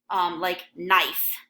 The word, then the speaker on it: knife: So when you actually say like knife, you know it's spelled Knife. Phonetically, though, the K is silent, and you just say Nife, knife.